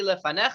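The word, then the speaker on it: לְפָנֶיךָ: Lefanecha, just like in the Moda Ani, lefanecha, lefanecha. Now, guess what happens? What does it say now? Same thing. Same Lefanecha. thing. Very good. The yud, if it doesn't have a vowel, is silent.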